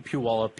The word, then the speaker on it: Puyallup: Puyallup, yeah.